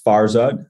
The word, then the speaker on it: Farzad: show my name is farod I know it's kind of hard for some people to pronounce it's I always say it's like far quad and strike but without the queue like absolutely I'm the